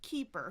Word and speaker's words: keeper: So if it were just the word keeper, it would be keeper. Keeper. That would be the primary stress.